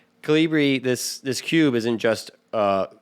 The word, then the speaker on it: Colibri: Colibri. Colibri.